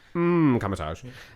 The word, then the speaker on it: Kamar-Taj: It's a silent M at the beginning of that. Kamatage.